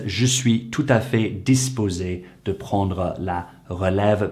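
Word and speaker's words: tout à fait: well this is because the next letter after the t is a vowel and that creates the liaison between the t and the a and therefore to make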